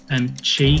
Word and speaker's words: Qi: Qi, QI. Absolutely, yes. I mean, I have the pronunciation guide here, but thank you for also confirming it.